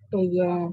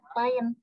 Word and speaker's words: klien: Kalau pakai bahasa Indonesia itu pakai bacanya klien. Tapi kalau pakai bahasa Inggris bahasanya client.